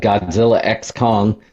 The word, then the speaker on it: Godzilla x Kong: That was a big month for IP because then we had Godzilla X Kong. The X is silent.